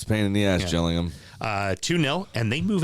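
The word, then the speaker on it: Gillingham: and then finally rexam beat your B Rivals jilling him spelled Gilling them call themselves The gills even though the town is pronounced Jill I I hate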